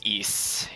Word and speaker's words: Ys: oh yantas is saying apparently the ys series is pronounced east yes i think sometimes